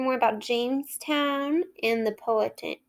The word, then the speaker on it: Powhatan: We're going to learn more about Jamestown and the Powhatan. Let me make sure I say that right. The Powhatan. I looked it up so I could say it correctly today.